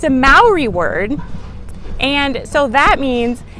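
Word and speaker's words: Māori: wrong country and while we are talking about pronouncing things right you might have noticed that I said Maori not Maori and that's because Maori is the correct way to pronounce the name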